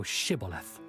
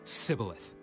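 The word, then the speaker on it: Shibboleth: If he said, Nay, then said they unto him, Say now Shibth. and he said cibilith for he could not frame to pronounce it right.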